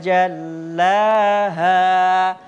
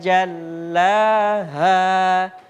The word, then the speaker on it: جلاها: Wan nahari idza jallaha. H besar juga. Di sini ada H kecil di ayat 3. Enggak ada. Jadi jangan pernah bacanya itu tipis, ditahan seperti H kecil ya. Wan nahari idza jallaha.